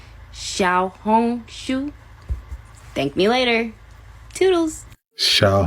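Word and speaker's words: 小红书: Little Red Book so make sure y'all are pronouncing the name of the app right it's called Shia Hong Sho Shia Hong Sho Shia Shia H Sho Shia Hong Sho make sure that's what y'all that's how y'all pronouncing the app cuz that is the real name of it Shia hong shu Thank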